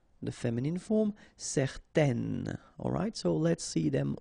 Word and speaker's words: certain: will change the thing, and then you will pronounce it n. Okay, so the masculine form, certain, the feminine form, certaine.